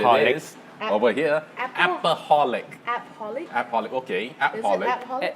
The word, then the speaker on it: appaholic: Appaholic, okay. Appaholic. Actually, it's from the word shopaholic. Shopaholic. Yeah. Workaholic. So now it become an appaholic.